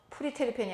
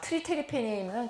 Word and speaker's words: 트리테르펜: 자, 그 다음에 프리테르펜이 아니고 티읕 발음을 보면 피읍을 티읕으로 바꾸세요. 그러면 이건 무슨 소리냐? 트리테르펜이면 굉장히 이제 분자량이 커져가지고 이제 고형으로 떨어지고 이 트리테르펜이 나무마다 풀마다 없는 식물이 없어요.